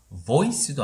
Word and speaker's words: voice: voice도 아닌 C 거꾸로니까 voice가 되는 거죠.